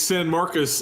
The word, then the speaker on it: San Marcos: How do you pronounce it? It's San Marcos, and then this is the Party School Bowl.